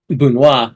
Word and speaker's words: Banwa: It's only the ones that are pronounced differently, like how Bunwa is pronounced with an accent on the wa, that they show the pronunciation for it.